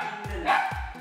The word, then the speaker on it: Giddens: Bacanya Giddens atau Giddens?